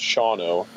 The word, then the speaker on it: Shawano: It looks like Shawano, but it's pronounced Shawano.